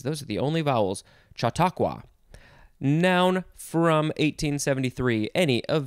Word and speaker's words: Chautauqua: is our last word it is shatokwa shatokwa i want to make sure i pronounce it correctly it is spelled u